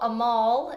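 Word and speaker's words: Amahl: tidbit that the first Hallmark Christmas movie was a mall in the night visitors so that Opera is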